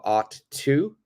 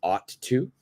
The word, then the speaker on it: ought to: almost really really soft it's almost like a D sound like a so D